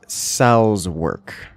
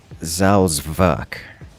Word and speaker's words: Salzwerk: Pronouncing those same letters with the German pronunciation is something more like Salzwerk, which is a little bit different because it's got a v, like a hard V sound rather than the W that would be of English, and it's got